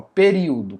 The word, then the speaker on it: período: Como é que eu separo o período? Período, período, período, porque eu separo na minha fala o i do ó. Período, período. Eu não falo pe perio. Pero, não faz sentido. Então é período.